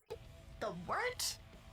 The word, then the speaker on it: wort: Hey, moron, it's pronounced the Wort. What the hell is a wort? Pronounced the Wort. What is it? The Wort? Yeah, okay, I'll do that again. This is The Wort on Govs Radio. It is the Wort, not warts, not forts, not short, the Wort.